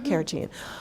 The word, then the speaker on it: carrageen: So now I'm seeing that they have almond milk with am I pronouncing it correctly? Yes. Carrageen.